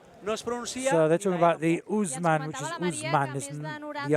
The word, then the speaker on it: Ousmane: My colleagues there are talking about the pronunciation of Ousmane. The O at the start and the E at the end are silent.